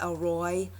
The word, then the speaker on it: El Roi: the name of God the elroee some pronounce it the Elroy e-l-r-o-i and it means the